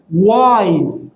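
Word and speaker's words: why: وظيفتك الكلمه الثانيه لماذا واي واي هذا الاتش ايضا صامت سؤال واي د يو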